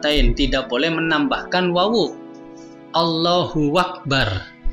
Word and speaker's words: Allahu akbar: tidak boleh menambahkan wawuk Allohuakbar kadang ada orang membacanya allahuakbar itu salah Allohuakbar tidak boleh juga memberi